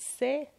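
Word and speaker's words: ث: of the letter S, which in Farsi is pronounced Se and is written like this.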